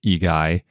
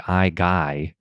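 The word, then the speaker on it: Igai: it in Latin that's igy and sometimes we just default to Latin if we can't figure out how you'd say it in another language because I think in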